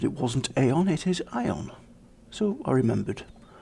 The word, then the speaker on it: Aion: We did notice last time that it wasn't AION, it is AION.